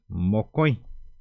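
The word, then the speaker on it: mokõi: para que puedan ver pti es 1 la pronuncia es pti uno número dos vamos a ver cómo es número dos es mocoy moco número dos número dos número tres Cómo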